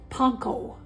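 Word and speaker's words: panko: y all heard of panco well ACC according to my brother it's called PCO PCO so yeah because that's how they say it in Japan this is a Japanese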